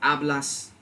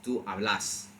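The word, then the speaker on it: hablás: The biggest thing being that in the present tense, the emphasis shifts to that last syllable. So it's not to ablas, it's ablas. It's not to, it's right.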